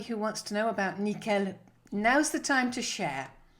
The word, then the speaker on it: nickel: nickel well it's not nickel it's nickel pronounced everything at the end all the weight at the end nickel and the i in